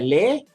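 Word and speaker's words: les: of that is uh lei is a plural is a plural article in french l e s with a silent s and for mere the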